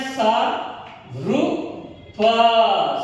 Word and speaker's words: सर्प: सा रु प सर्प।